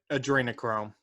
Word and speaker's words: Adrenochrome: Adrenochrome, the drug, Adrenochrome. That's how you pronounce it.